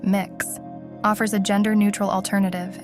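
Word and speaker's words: Mx: strictly male or female the title mix pronounced mix offers a gender neutral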